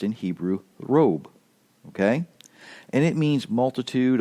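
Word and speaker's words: רֹב: One is Strong's number 7230, and it is pronounced in Hebrew robe.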